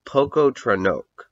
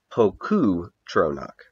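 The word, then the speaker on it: Pocoughtronack: a mighty nation called Poco trono uh poo trono trono Poco trono yeah actually I think it would be pronounced poku trono because of the GH there uh spelled p o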